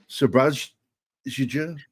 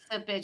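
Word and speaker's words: Šerbedžija: Oh, I think the J's silent. That would be Serbedzija. Yeah, there you go. See? Serbedzija.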